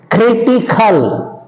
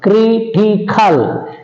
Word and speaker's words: critical: is seventh rule is when words end with Al these words also take stress on the anti penultimate syllable from the end for example is a critical critical you see on the